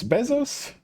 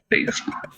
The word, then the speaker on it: Bezos: Actually, Jeff, is it Bezos? I don't know how his last name is pronounced. Bezos.